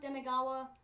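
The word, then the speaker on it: Demegawa: It's pronounced Demigawa. The way it's spelled doesn't fucking matter.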